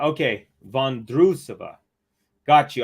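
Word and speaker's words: Vondroušová: Vondrousova. Okay, Vondrousova. Got you. I was saying Vondrousova because I've heard some people say Vondrousova, but I'm like, So Vondrousova. Okay, perfect.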